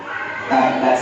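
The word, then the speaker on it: تبّت: Tabbat yada Abi Lahab. Jangan bacanya watab, salah. Maka masing-masing imam di sini nih harus belajar tajwidnya. Tabbat yada Abi Lahab watab. Agak dilakukan dulu karena terakhirnya ada tasydid.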